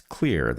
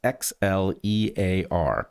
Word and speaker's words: Xlear: It's Xlear. That's X L E A R pronounced Xlear.